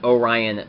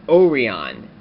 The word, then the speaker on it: Orion: had encountered Orion, or Orion. Well, it was pronounced Orion in Kyuranger, but in America it would be pronounced Orion. Kind of odd how Japan pronounces English words very differently from actual English-speaking people.